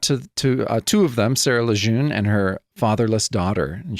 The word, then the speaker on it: Lejeune: It was signed by a friend of mine, Sarah Lejeune.'" Is that how you're pronouncing it? Yeah. It's French.